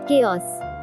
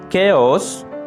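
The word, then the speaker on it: chaos: কেয়স, কেওস, বিশৃঙ্খল অবস্থা। কেওস, বিশৃঙ্খল অবস্থা। এখানে মার্ক করা এইচ লেটারটি অনুচ্চারিত থেকে যাচ্ছে।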